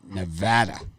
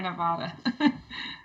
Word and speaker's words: Nevada: we've got unlv and nevada often often mispronounced as nevada but it's for this one i just think it's too many points for nevada it's nevada brian too